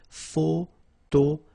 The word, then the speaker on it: photographe: So here PH and here PH, pronounce it like F, f, f, f. Photographe.